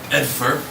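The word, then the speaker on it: Edfar: And he says, the town to the south there is going to be Edfer. Small farming village. Mostly deals with wheat exports, spelled with E-D-F-A-R.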